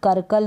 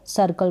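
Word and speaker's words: circle: और spelling सर्किल है इसको कर कल नहीं पढ़ने हैं यानी इसको सर्किल पढ़ा देखें इस सी को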